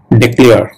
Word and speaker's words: declare: Pronunciation উচ্চারণ, actual pronunciation হবে ডেক্লেয়ার, ডেক্লেয়ার, ডেক্লেয়ার, ওকে?